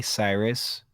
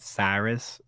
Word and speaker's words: Cyrus: out that cirrus cyrus i spell it cirrus cyrus and dylan work together um i think it'll be easy if you if you just say cyrus but just say it cyrus i think you'll easy